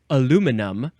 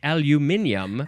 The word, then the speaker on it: aluminum: Americans like to say aluminum, but other people in the world like to say aluminium.